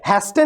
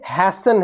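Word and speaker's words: hasten: एन ये क्या है हेस्टन नहीं है ये हैसन है क्या है हैसन है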